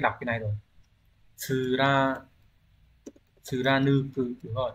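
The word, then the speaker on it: 貫く: Nếu như một người Hitorinoni ga jibun no ikikata o nura, cái này lại quên mất cách đọc cái này rồi. Tsura tsuranuku, đúng rồi, tsuranuko.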